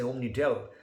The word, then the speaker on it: OmniDEL: We always say OmniDEL, just like we would pronounce well.